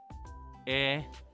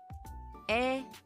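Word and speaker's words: え: 발음은 우리말의 애와 거의 같습니다. 잘 듣고 따라 읽으며 함께 써 볼까요? 에 에 아행의 마지막 글자입니다.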